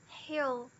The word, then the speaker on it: hill: Porém, a palavra hill, não encosta. É um L diferente. Geralmente, esse L do final é o que a gente chama de dark L. Que é esse L que ele meio que... Ele não encosta, ele meio que escorrega. Hill. A língua vai querer encostar, mas não encosta e abaixa. Hill.